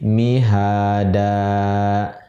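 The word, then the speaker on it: مهادا: Nah, kemudian ketika karena di ujung ayat mihadan ini, cara berhenti membacanya adalah dengan membaca mihada, gitu.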